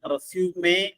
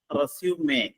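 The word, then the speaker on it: résumé: റെസ്യൂം എന്നാണ് പുനരാരംഭിക്കുക പക്ഷേ അത് നൗൺ ആയിട്ട് ഉപയോഗിക്കുമ്പോൾ അതിന്റെ ഉച്ചാരണം റെസ്യൂമേ എന്നാണ് റെസ്യൂമേ ഉച്ചാരണത്തിൽ ഒരു വ്യത്യാസമുണ്ട് റെസ്യൂമേ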